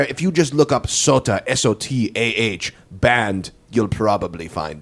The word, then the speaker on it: Sotah: They say Sotah, and I say, no, it's just Sotah. It's Sotah.